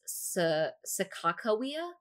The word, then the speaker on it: Sacagawea: Some people think it should be pronounced Sakakawea. Nobody really knows. I'm going to say Sakagawea, since I'm going to go with the Hidatsa pronunciation.